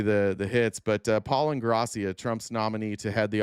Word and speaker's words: Ingrassia: Um, here's uh, Paul what Ingrassia, right? That's how you say it. Ingrassia.